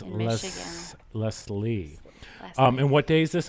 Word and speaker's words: Leslie: would let you know Charlotte so it's less Leslie and what day is this on Saturday October